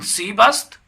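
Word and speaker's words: سیب: सिलसिले में होगी इन सी बस्त ये सेब है अब एप्पल है सीब तलफ्फुज कीजिएगा प्रोनाउंस एशन सीब होना चाहिए उर्दू में सेप कहते हैं लेकिन इंग्लिश फारसी में सीप कहा जाता है आन अनारस यानी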